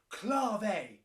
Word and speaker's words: clave: yeah i know it's spelt clave but you pronounce it clave shouted give it a go clave it's spelled